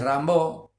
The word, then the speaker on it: Rimbaud: varios el poeta francés rambó se escribe Rimbaud Arthur Rambo decía yo es otro